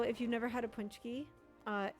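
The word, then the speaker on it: pączki: Oh, chat, tomorrow uh is Punchki Day.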